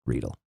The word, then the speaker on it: Riedel: and it's actually pronounced Riedel. Thank you. Rydell, like the high school.